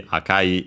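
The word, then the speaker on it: 赤い: Uh but yeah, you have to remember that unfortunately Akai is unacented.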